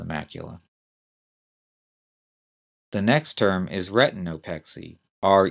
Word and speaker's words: retinopexy: damage to the macula the next term is retinopexy re e t i n o p x